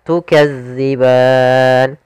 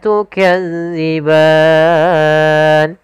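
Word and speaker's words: تُكَذِّبَانِ: panjangnya dua harakat serta tukadziban hati-hati dalam melafalkan Za jangan dibaca dengan Zai karena nanti merubah maknanya tukazzi makhrajnya agar sempurna kita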